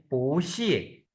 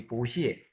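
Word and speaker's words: 不客气: मी्स thank you एंड पूछिए पूछ पू नहीं फातिमा आप भूल गई है बी को हम कैसे प्रोनाउंस करें पी से पूछ पूछ शाबाश अब ये देखिए शेष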